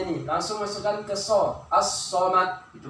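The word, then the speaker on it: الصمد: Cara membacanya, lamnya tidak dibaca, dilebur huruf lamnya nih. Langsung masukkan ke so. As-somad.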